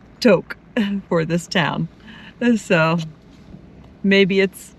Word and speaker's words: Tok: We are getting near Tok, Alaska, which is spelled Tok, T-O-K, but pronounced Tok because it's short for Little Tokyo.